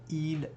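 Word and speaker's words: ils: We have il plural and that's what we call them because again we do not pronounce the s at the end of these words.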